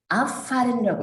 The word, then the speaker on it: abfahren: 분리동사는 자기가 강세를 가질 겁니다. abfahren이라고 읽으셔야 되고 abfahren 출발하다부터 오른쪽 마지막에 가시면요.